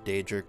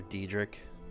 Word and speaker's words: Daedric: Elder Scrolls game when they pronounced Daedric either they say Daedric or Diedrich it's kind of interesting